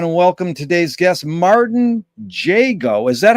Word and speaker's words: Jago: Want to welcome today's guest, Martin JGO. Is that how you pronounce it, Martin?